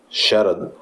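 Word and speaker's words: Scherer: Aliás o Dom Eugênio sh assim que se pronuncia Sher renunciou ao cargo de Arcebispo de São Paulo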